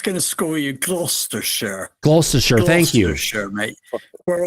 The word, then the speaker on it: Gloucestershire: Gloucestershire, thank you.